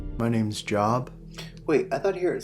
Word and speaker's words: Job: dead my name's job wait i thought here at city's pronounced job no it's job j-o-b job would be like j-o-b-e you know like earlobe or something i know how to